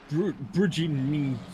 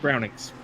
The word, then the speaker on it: Brownings: The first time I tried to pronounce it, I was like, Bridging, but it's Brownings. So yes, Brownings.